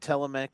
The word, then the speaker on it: Telemachus: Telemachus.